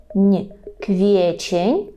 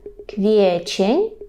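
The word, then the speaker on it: kwiecień: на курсі і Ідемо далі квітень польською квічень квечень квечень квечень А у квітні в кветню кветню з того що помічаю квечень трошки нам так важко дається тому більше потренуйте квечень в кветню в кветню обходми века в кветню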